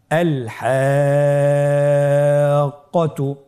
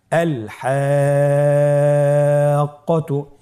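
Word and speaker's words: الحاقة: এখানেও মাদের হরফের উপর মোটা চিহ্নটি রয়েছে এবং মোটা চিহ্নের উপরে তাসদীদ রয়েছে, এই জন্য আমাদেরকে 4 আলিফ টেনে পড়তে হবে। আল হাক্কাতু। আবার বলুন আল হাক্কাতু।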